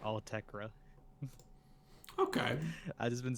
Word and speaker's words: Autechre: It seems like it's actually pronounced Altekra.